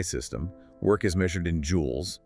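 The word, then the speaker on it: joule: In the standard system, the SI system, work is measured in jewels. It's spelled J O U L E.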